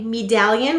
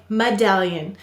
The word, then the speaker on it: medallion: talk about this word why did the e say its long sound a e o u usually say their long sounds at the end of the syllable but we don't say medallion we say medallion so what's going on